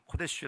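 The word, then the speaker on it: קֹדֶשׁ: 반복적으로 들었잖아요 성도라는 개념 히브리어로는 코데쉬 아고 발음하고 헬라어로는 하기오스고 발음하는이 성도의에 뜻 여러분 기억하시죠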